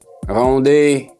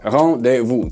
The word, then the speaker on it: rendezvous: That's a French word. Rendezvous. All right, that's how it sounds. That's how it's written, but it sounds rendezvous. 3 syllables, and then in here,